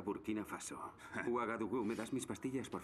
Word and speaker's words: Burkina Faso: Wikipedia Cuál es la capital de ballena faso se pronuncia burkina faso me das mis pastillas